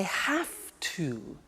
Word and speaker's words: have to: hear my pronunciation I have to notice I don't say V I say F have half it becomes have to have to becomes in